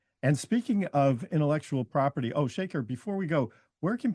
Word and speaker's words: Shekar: Yeah, it's like Shekar, Shekar, like, but it's like it's not. It's like salt and pepper shaker, but it's Shekar is how it's phonetically like written, and, Nat as